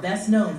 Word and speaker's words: best known: Rolling man, best known for his role as Rhett Butler in Gone with the Wind.